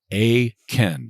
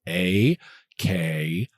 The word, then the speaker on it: Akin: is spelled the normal way, and Akin is spelled the normal way. It is just 4 letters, exactly like it sounds. Akin. So it's Akin.